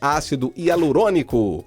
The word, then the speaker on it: ácido hialurônico: eo ácido e agronômico acho que a pronúncia correta é ácido hialurônico que cirurgias plásticas tão